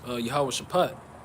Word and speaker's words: Jehoshaphat: it's going to say Jehoshaphat. But the correct way to pronounce it is Yahweh Shaphat.